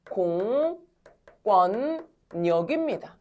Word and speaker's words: 공권력: 자, 얘는 표준 발음이 어떻게 되냐면 공권력입니다.